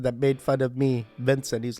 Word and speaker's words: Vincent: There was that person that made fun of me, Vincent. He's like, "Why are you saying my name like Benson?" I guess I was saying the V's as B's, and then I went home and I practiced.